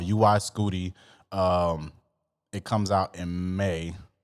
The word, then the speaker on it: UY Scuti: If you don't know how Young Thug's new album name is pronounced, it's pronounced UY-SCUTI. That's what it's pronounced, and it's the biggest known star in the universe.